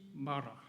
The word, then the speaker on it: 마라: Call me 마라. 마라. 한국에 가면 중국에서 온 탕 중에 마라탕이라고 있어요. 마라탕. 그 같은 비슷한 발음인데 약간 씁쓸하고 막 좀 그런 탕이에요.